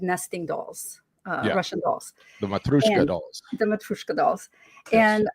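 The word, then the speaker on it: Matryoshka: Matroshka.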